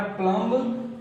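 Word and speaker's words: plumb: अगला वर्ड है हमारा प्लम्ब, प्लम, यानी कि इसमें बी को साइलेंट करेंगे तो क्या हो जाएगा, प्लम हो जाएगा, सीधे इसको प्लम।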